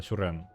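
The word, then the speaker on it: Suresnes: У нас нема пакуль Сюрен. Не склоняется. Сюрен. Нотатки. Сюрен Википедия. Ну-ка. Ну-ка. Сюрен. Сюрен, тому что, блин, французская назва, тому она так и читается. Яна пишется Сюрен, Сюреснес, але гэта французское слово.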